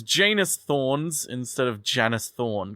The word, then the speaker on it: Janus: genus Thorns they were originally pronounced with the first syllable rhyming with can so Jan Janice Thorns but then Tom